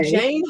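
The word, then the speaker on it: Jayne: haven't seen Jane spelled J A Y N E. What I say to people is, well, you wouldn't spell Wayne W, right? The name Wayne. So, my name spelled like Wayne.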